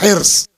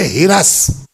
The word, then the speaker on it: حرص: صحیح تلفظ ہے اس کا حرص، ہے رے صاد حرص. لکھنؤ والوں سے بات کیجئے گا تو وہ کہیں گے ہرس.